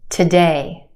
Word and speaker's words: today: The first syllable is where we have our schwa sound, today. Today. It's not today, today.